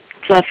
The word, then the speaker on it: Plouffe: The other one was David Plouffe, or however you pronounce his name. Plouffe is right.